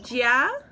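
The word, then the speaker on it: 家: Is it jia?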